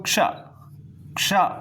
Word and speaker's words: क्ष: जब हम लोग क्षत्रिय वाले छ को तोड़ते हैं तो यह क और श में टूट जाता है। तो आप लोग जब इसको उच्चारण करोगे क्ष सबसे पहले क आता है तब छ आता है।